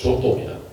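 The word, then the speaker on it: Giotto: 지오라는입니다 상 아버지로 리죠 원래 이탈리아 발음은 지옥도가 아니고 도입니다 자이 사람이 그 그림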